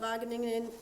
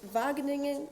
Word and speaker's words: Wageningen: Last but not least, uh we've got York Colin from the Vagening Vagening Marine Research in the Netherlands and he's going to talk to us about marine growth sampling tool evaluation.